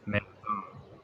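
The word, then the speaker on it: מֵאָדָם: Me'adam, Me'adam. me'adam. Me'adam. Yeah. Me'adam. Yeah, me'adam. And the daleth here is the rather than da. Yeah. Yeah. Soft daleth.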